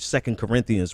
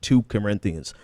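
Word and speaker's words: 2 Corinthians: is I mean hell he didn't even know what second Corinthians was he pronounced it two Corinthians so I mean they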